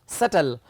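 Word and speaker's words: subtle: सटल. अब देखिए, जब बी के बाद टी आता है तो बी साइलेंट किया जाता है अगर 1 syllable वर्ड हो.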